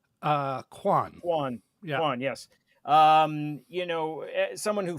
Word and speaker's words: Quan: I don't want to mispronounce his name. Oh, Miss Quan. Kwan.